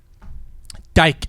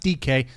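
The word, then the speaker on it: Dike: Dyke, as I like to call him. That's how it's spelled, but it's pronounced DK. So, it's Yeah, two games in a row with DK in the return game.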